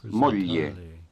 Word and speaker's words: moglie: wife is, Moglie. remember that the GL combination is pronounced lieu as in million.